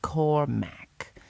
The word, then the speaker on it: Cormac: It was Cormarmac, pronounced Cormack, the village leader.